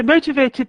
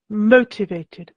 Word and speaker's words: motivated: thank you yeah okay so motivated the stress is on the first syllable motivated motivated shin would you like to